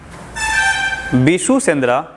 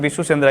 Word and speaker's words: विशु सेंद्रा: जो वर्ष में एक बार होता है, जो बिशु सेंद्रा, बिशु सेंद्रा लिख दे क्या? विशु सेंद्रा, कहीं विशु सेंद्रा होता है लेकिन विशु सेंद्रा ही होता है इसका सही उच्चारण।